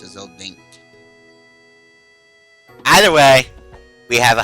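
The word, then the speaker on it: Zell Dincht: But first, Zeldinch. That's how you pronounce it. I always pronounce it Zeldink.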